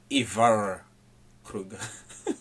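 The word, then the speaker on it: Ivar Kreuger: are not saying it right, according to the Swedish people. I see. Okay? I will attempt to say it correctly. His name is Ivar Krueger.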